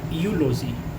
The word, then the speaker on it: eulogy: यूलोजी, यूलोजी क्या है? EULOGY। तो ई और यू मिल करके ये उच्चारण हमें दे रहा है य का, यू का।